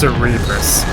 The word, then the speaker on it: Cerebrus: it's a Cerberus, but its name in the card game is Flame Cerebrus. I'm not sure where they got that from. Yeah, it's pronounced Cerebrus.